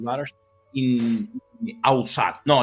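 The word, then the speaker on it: Ussat: and 2 daughters in Ausat. No, let me pronounce it in French. Ausat. Usat. Okay, Usat.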